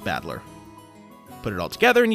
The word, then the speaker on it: Battler: hito ri and to anyone encountering the unique name spelled like this would probably try to read it as something like sento no one would guess that he is called battler not only is the